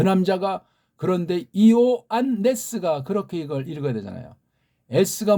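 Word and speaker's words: Ἰωάννης: 그래서 이오안네스 그렇게 읽어야 돼요.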